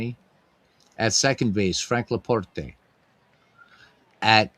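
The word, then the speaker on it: LaPorte: At second base, Frank Leaporte at And I use the Italian pronunciation. I know it's probably Leaport. You know, if he's French, it's Leaport, but I'm used to saying the Italian way.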